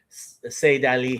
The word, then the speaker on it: Sayyid Ali: So they call him Sayyid Ali so that it rhymes with Pahlavi. It's one. It's way of referring to Khamenei. Sayyid Ali.